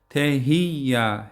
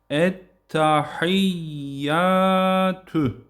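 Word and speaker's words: التحيات: Ha harfine yine ha mahrecine dikkat etmek. Boğazdan çıkacak şekilde ettehiya. Tehiya h şeklinde değil. Ettahiyyat.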